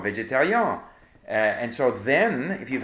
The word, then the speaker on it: végétarien: For example, the en, if you have en in French is pronounced en most of the time. But when it comes after an I or a Y, it's un, like Adrien or végétarien.